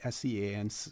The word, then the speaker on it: Sean: I hope I'm pronouncing it right, S-E-A-N, Sean. Yes, yeah, that's correct.